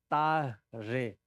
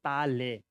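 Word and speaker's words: Tare: And Ta-re. I think, can you guys pronounce Ta-re? Re. It's R, Ta-re. It's not Ta-le.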